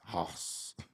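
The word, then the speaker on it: Haus: house dog house but a house is spelled like Pat McAfee would spell it it's h a u s hos why does Pat McAfee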